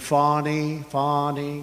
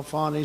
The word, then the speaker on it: Fani: local attorney generals and Fani, you know, Fani spelled F-A-N-I. My name is Fani, F-A-N-I. I don't figure it. You put a little French accent on the word with her lover Wade, right?